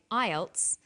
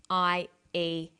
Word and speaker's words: IELTS: With an acronym, we don't pronounce the individual letters, we pronounce it as a word. So we say IELTS, not IELTS.